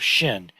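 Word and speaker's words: 心: It's pronounced Shin, but people never just write it on its own like this unless they're practicing, as an exercise.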